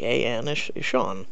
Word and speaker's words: Sean: if you go on Google in America it's pronounced Sean for people have been saying Sheen all this and I'm like no here in America s e a an is Shawn it's literally you can go Google how to